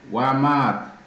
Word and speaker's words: Wamat: So, another term what we have to know is Wamat. Wamat. Wamat. This one. Wamat. Wamat. Mat is Wamat. This is how we spell it.